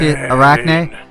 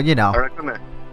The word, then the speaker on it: Arakune: I pronounce it the way the Japanese people say it. Okay. If you say it American-like, you may pronounce it more Arachne-like, alright. which is like the Greek version.